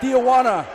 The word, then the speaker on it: Tijuana: they are not familiar that dia wanna that's the way you pronounce it Leto and now we're